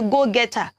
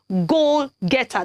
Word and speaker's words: go-getter: ah today is a go-getter geo-getter is it go get her no it is not goal getter that's what we say